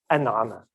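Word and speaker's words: أنعم: It's It's a glottal stop, strictly speaking. Okay. Right, so if you take na'ama, to be blessed, you can make that causative to bless someone by putting the prefix glottal stop, an'ama.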